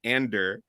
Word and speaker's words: Andor: I think in Rogue One they say Andor, but I think Stellan Skarsgård just says Ander.